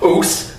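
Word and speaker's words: oss: And it's not pronounced os or us, it's us, U-S-S, us.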